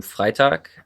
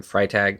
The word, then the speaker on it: Freitag: my name is fly talk that's the way it's pronounced in German but I go by Freitag just because it's easier